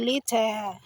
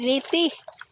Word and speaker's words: Leyte: Pero ang tinuod nga pronounce ay Leyte. Sa Leyte. Dili Leyte.